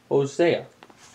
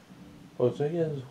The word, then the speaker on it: Hosea: Today, we start Hosea. Or Hosi. As it is spelled.